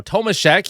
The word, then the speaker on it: Tomasek: Now Tomasekk, yes it is. Thank you to the comments who did let me know that that's how you pronounce it. uh Ike Howard with Tomishek and Kain.